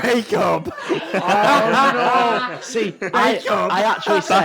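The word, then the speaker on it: Bacup: actually said in the car, I don't know if it's pronounced backup or bake up. Brilliant. Anyway, It's bake up.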